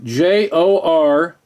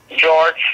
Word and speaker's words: Jorge: Yeah, J-O-R-G-E. J-O-R. Yeah, J-O-R-G-E. G-E. Yeah. Or that's George Scott. No. It's Jorge. It's Jorge.